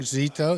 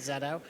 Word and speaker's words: Xeto: got a new thing Zito zetto Zito zetto Zito zetto uh it's like tomato tomato I guess whatever you want to do it I pronounce it Zeto zetto tell us about zetto